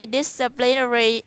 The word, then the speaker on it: disciplinary: No, the emphasis is on the first syllable, and that's it.